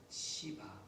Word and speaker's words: 시바: 때에 이때 사울의 종이었던 시바 발음 잘하셔야 돼요. 잘못 되게 말씀하시면 욕이 됩니다.